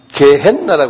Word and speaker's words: 게헨나: 영어로는 헬이라고 그러는데 이 지옥이라는 것은 원어로는요 게헨나라고 그랬어요. 제가 영어로서 게헨 N이 두 개예요. 게헨나 G-E-H-E-N-N-A 이렇게 헨나 이렇게 한 발음해 보실래요?